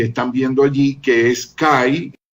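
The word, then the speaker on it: καί: Entonces, esas dos palabritas fueron añadidas en este documento y encima de la raya blanca ustedes pueden ver ahí la palabra kai, que se pronuncia que, y la palabra nesteia, que es esa otra palabra subrayada con la línea blanca.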